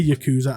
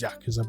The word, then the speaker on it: Yakuza: I say Yakuza. I know it's pronounced Yakuza, but for because of me accents and stuff, don't hate me.